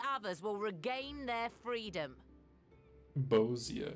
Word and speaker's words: Bosnia: Bosnia is how you say it. Not Bosia.